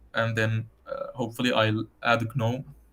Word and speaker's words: GNOME: then hopefully I'll add GNOME. GNOME, sorry, the G is silent, or GNOME for GNU.